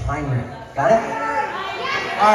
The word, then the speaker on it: Heinrich: like the last full day of camp it's pronounced Heinrich I know it's spelled h-e-i-n-i-c-h it's Heinrich got it all right all right yeah all